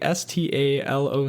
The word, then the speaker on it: Staloch: artist's name is Bo Stalo. Uh, Bo is just B O, and then Stalo is actually S T A L O C H, but again, pronounced Stalo according to the Spotify bio.